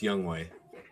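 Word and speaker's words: Younghoe: I believe it's pronounced Young Way.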